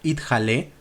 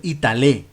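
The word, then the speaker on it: יתעלה: reo del kadish hay una palabra idale que significa que se eleve pero algunos por error pronuncian ital que significa que se cuelgue vemos Así que cambiar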